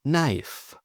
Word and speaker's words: knife: Now the silent K before an N. For example, no. Knife, knee, or knock.